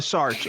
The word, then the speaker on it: Sartre: Okay, of Sartre actually is how you say it in English.